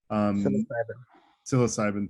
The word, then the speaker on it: psilocybin: I did post an article that refers to studies on microdosing psilocybin, I can't pronounce it. Psilocybin, thank you.